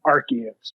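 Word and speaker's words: Arceus: my number three is Pokemon Legends of archus and that is the correct way to pronounce it so you're wrong if you say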